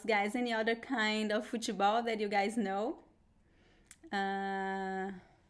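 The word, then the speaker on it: futebol: attention to the pronunciation although we don't have any vowel right after the t uh we pronounce the e sound fuso fujisao in brazil right so this pronunciation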